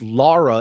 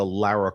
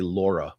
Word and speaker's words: Lara: How many people say her name wrong? Always. English Britw woman. People say Laura.